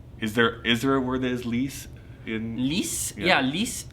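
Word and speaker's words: lisse: So, hmmm, is there a word that's 'lees?' AZREN: L I S S E. Means, like, very smooth. KYLE: Oh smooth. Okay. AZREN: So French, if you have any, generally speaking, final consonants don't get pronounced.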